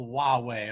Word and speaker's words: Huawei: and Apple and just keep in mind guys it's called Huawei okay it's kind of a weird pronunciation yeah Huawei and Apple they're